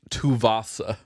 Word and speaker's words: Tuvasa: It's pronounced Tuvasa.